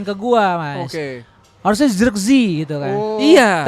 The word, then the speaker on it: Zirkzee: Harusnya Zirkzee gitu kan. Oh. Iya. Tapi secara spelling atau pronounce Belanda Zirkzee. Sirkse.